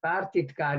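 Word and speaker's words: pártitkár: it's a compound and partitgar is normally pronounced with one t even though they come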